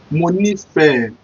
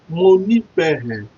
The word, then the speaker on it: Mo nífẹ̀ẹ́: Mo nífẹ̀ẹ́.